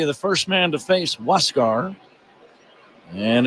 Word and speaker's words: Huascar: Huascar Brazoban, a right-hander, spells his first name Huascar, but it is pronounced Huascar, and he inherits a runner at second with one away, 3 runs in.